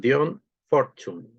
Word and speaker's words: Dion Fortune: Lo pronuncian Dion Fortune.